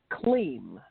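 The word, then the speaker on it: kleem: like this um there's a mantra that is clean and it's spelled k-l-e-e-m sometimes people spell it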